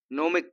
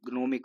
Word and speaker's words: gnomic: अगर मैं इसको लिख दूं, अगर मैं इसको लिखूं तो GNOMIC ग्नोमिक होता है, और ग्नोमिक ना लिख के नोमिक लिखा है, क्योंकि नोमिक इसका प्रोनाउंसिएशन वाला पार्ट है।